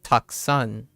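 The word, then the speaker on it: たくさん: It's gonna sound like 1 syllable, and these might actually sound like 2 syllables. So taksan. So it's taku-sa-un. Taku-sa-un. But when you read it, it sounds like taksan.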